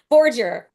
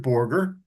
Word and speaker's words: Borger: Next up is Borger. Yes. Thank you. Yep. Actually, I pronounce it Borger. Oh, sorry, Borger. That's all right. The New York portion of the family pronounces it Borger.